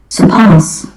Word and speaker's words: surpass: So we just drop the R in the British sound. Surpass. Surpass. Surpass. But in American surpass, surpass.